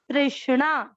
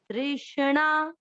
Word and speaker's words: तृष्णा: आधा से तृष्णा, तृष्णा, तृष्णा नहीं, ना नहीं बोलना है, अण है तृष्णा।